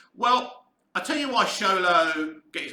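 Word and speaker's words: Xolo: spend time chatting with zolo pronounced uh show low all right show like it's not zolo it's show low all right we get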